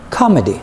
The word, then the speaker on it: comedy: comedy it's a comedy look at the stress the first part or this the first syllable so we say it like this comedy very good next oh